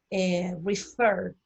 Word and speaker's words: refer: Refer, refer, ¿ven? Refer, el acento tónico está en fer.